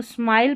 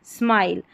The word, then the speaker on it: smile: स्माइल, इसको स्माइल पढ़ना है, स्मिल नहीं पढ़ेंगे, स्माइल। और ये जो लास्ट में ई है ये साइलेंट है, स्माइल।